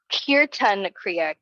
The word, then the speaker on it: Kirtan Kriya: Today I have a specific Kriya called, I want to check the pronunciation before I just say it, Kirtan Kriya, Kirtan Kriya, Kirtan Kriya.